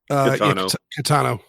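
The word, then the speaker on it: Caetano: And basically by saying they were not in common use, which in 2016, how's that name pronounced? Catano? Catano.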